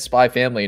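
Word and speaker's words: Spy × Family: my chest telling me you don't say the x in the middle i knew that but it's like stupid it's actually supposed to be said spy family nurge this is the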